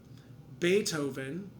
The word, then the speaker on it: Beethoven: will be silent so here are some examples is silent h by itself school beethoven which is actually a german word but super